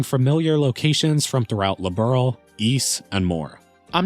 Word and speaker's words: Ys: Now for the record, it was only until I made this video that I learned it's not pronounced Wise, it's pronounced Ys.